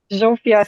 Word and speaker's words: Zsófi: So I am Zsófia, but I go by Zsófi. ZS is actually one letter in Hungarian, pronounced zh, like a zh sound. So like in leisure or pleasure, it's the same zh.